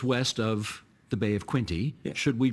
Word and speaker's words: Quinte: called the Bay of Quinte. Okay. They don't really pronounce the T. So, this is the decision we have to make now. We are 2 hours west of the Bay of Quinte.